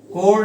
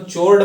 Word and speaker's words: chord: डी जो है मेरा वो क्या होगा, कोर्ड होगा, CHORD। अब मैंने देखा है कुछ स्टूडेंट्स क्या करते हैं ना, इसको चोर्ड पढ़ते हैं।